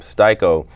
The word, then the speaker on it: Sty-ko: that, theater history, and actually changed the pronunciation from to Sty-komithia, knowing no one in the hip hop game is gonna say Sty-komithia, so I shorten it to Sty-ko.